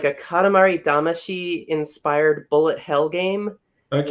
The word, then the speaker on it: Katamari Damacy: How do you actually pronounce that type Katamari. Of game? Katamari Damacy.